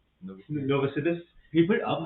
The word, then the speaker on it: Novosibirsk: Oh, and this is how you pronounce that city. I would Say it again. Novosibirsk. Novosibirsk.